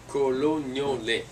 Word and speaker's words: Colognole: Colognole. Accent of the second O.